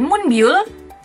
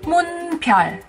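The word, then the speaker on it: Moonbyul: Bukan Munbyul, tapi Munpyeol.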